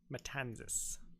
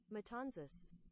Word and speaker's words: Matanzas: remember the matanzas mule how is that pronounced metanis I misspelled it but that's fine metanis oh exactly the way I said it good Northshore of Cuba